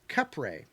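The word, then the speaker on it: Kapre: the Philippines called the cap capper it is pronounced kep ray there you go Capri cap ray okay I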